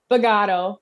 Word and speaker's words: Bogaudo: we've got so say your last name bagato a lot of people mess it up i